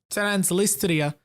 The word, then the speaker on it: Transnistria: This area is called Transnistria.